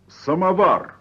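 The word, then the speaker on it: samovar: thank and we'll begin I'll start by pronouncing a few well-known Russian names and words in the way a Russian pronounces them please repeat after me Sputnik Sputnik good now try samavar vodka samavar vodka what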